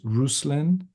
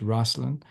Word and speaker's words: Ruslan: russin and in his native uh Ukrainian is pronounced rousin rousin but we pronounce it russland here in the states and his last name